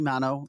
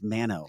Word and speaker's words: Manno: Well, so the Italian pronunciation, it's supposed to be Manno, but my husband's family has always done Manno. And that's just, so people call me either one. But Okay. technically it is Manno.